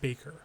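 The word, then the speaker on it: Hans Bacher: The most striking images from Hans Baker, I believe it's pronounced Baker, who had created numerous like thumbnails reminiscent of like National Geographic photography.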